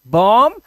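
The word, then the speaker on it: bomb: तो यहां पर कॉम बम एंड थंब डम। ठीक है? ऐसे एम के बाद अगर बी आता है तो बी को हमें क्या करना है? साइलेंट करना है।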